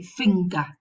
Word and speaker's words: finger: If the sequence occurs in the middle, we pronounce both, the velar nasal and the g. So we say finger, anger.